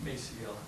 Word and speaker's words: Maciel: how do you pronounce that? Maciel.